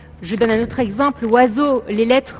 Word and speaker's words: oiseau: Je donne un autre exemple, oiseau, toutes les lettres de ce mot ne sont pas prononcées.